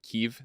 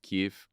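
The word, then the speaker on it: Kyiv: bit more about Biden's uh secret trip to Kiev this week Kiev Keith look I I listened to prod save the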